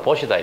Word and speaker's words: 보시: 풀어서 나눠줘라 이게 포시에 포시 그래 된발음 시인데 발음으로 보시다이 말입니다 그래서 스님들이 가서 법문을 하실 때 보시